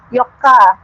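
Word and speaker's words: よっか: sampai 10 tadi kan 4 itu kan Yoka gitu ya bukan Yong tapi Yoka jadi Ju Yoka gitu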